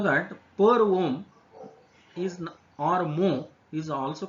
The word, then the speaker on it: mho: which is per ohm, which can also be called as MHO. It is pronounced as mho. Okay, MHO, which is ulta of ohm.